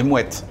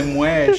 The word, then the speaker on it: Moët: Não, é Moët. Moët. Parece um detalhe, mas só essa diferença de pronunciar o T final faz a diferença.